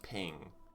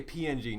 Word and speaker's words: PNG: He says PNG is pronounced ping. Ain't nobody says ping. You say PNG. Nobody says ping. Nobody says a ping file.